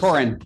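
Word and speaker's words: Thorren: But I see a I see an H on your name tag. It is. It's just not pronounced. Torren is like Thomas. It is like Thomas. Just like Thomas.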